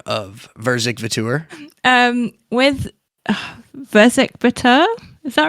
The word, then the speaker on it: Verzik Vitur: But alas, that gave us this moment where she asked about the pronunciation of Verzik Vitur. With Verzik Vitur, is that right?